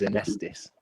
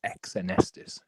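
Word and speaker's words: Xenesthis: too much okay so apparently the way you pronounce it is anesthesis oh it's a nessus apparently saw yeah better than how a friend of mine used to pronounce it was exonestis i would that would drive me up absolutely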